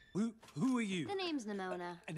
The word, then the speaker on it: Nimona: The name's Nimona. And how did you? Whoa, that's how you pronounce it.